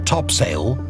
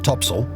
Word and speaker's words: topsail: included the four course four top sale pronounced topsail and four top gallant